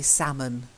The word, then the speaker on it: salmon: next one is important because it's a silent L and it's a lot easier to say if you just say salmon yeah that's it okay